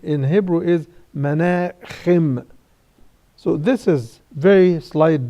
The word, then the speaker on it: Menachem: The letter ha in Arabic is pronounced in Hebrew as kha. We say Menachem Begin. His name in Hebrew is Menachem.